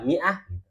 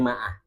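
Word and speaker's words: مائة: Tulisan mi'ah itu begitu. Kelihatan ya, ini mi'ah. Seratus. Ini berbeda dengan kaidah bacaan standar ya. Kalau standar harusnya bacanya apa? Standar bacanya bukan mi, maah kan gitu. Standarnya bacanya maah.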